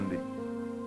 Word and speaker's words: Hyundai: ya Korea bikin hundai Hyundai bacanya hundai kemudian sana masuk Piala